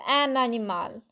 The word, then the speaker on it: un animal: An animal, the word begins with a vowel. So it's un animal. Un, the end of un gets pronounced.